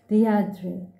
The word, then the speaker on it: Deirdre: Deirdre, her heart gave a leap and then stood still. Only one person had ever spoken her name like that, with a faint stress on the first syllable that made of it a caress.